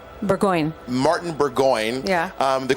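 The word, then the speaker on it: Burgoyne: Um in that song you named uh you name checked your then roommate Martin pronounce it for me Martin Burggon Burggoyne.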